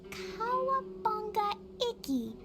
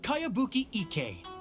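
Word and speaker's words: Kayabuki Ikku: By Kawabunga Iki. Yoimiya, this is a really strange name. Who's this Kawabunga? It's pronounced Kayabuki Ike.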